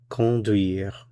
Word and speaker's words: conduire: In this course, we are going to look at a very important verb, the verb conduire. Conduire. Notice for pronunciation, the first vowel here is nasal. con duire.